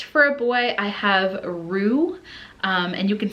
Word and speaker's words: Roux: Next for a boy, I have Roux, and you can spell that R-U-E or R-O-U-X. I think you can even, with the R-O-U-X spelling, you could pronounce it Roux, but it literally means red.